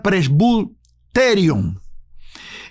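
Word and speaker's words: πρεσβυτέριον: la otra es presbiterio viene del griego que se puede pronunciar press terium y se puede traducir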